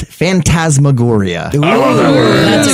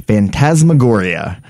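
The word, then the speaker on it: phantasmagoria: that sort of Realm uh the word is fantasmagoria much loved publication of horror films that's been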